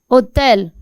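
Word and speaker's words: hôtel: Like le hotel. Hotel. H is silent.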